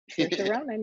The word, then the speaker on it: Saoirse Ronan: And Saoirse Ronan? That's Did I AP. pronounce that right? Saoirse Ronan, you got it.